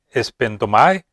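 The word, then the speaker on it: σπένδομαι: Esta palabra griega que se pronuncia espendomai se usa para referirse al derramamiento de una libación.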